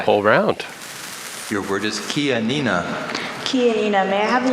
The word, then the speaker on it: Chianina: If you knew in Italian, it would be the CH like Chianti.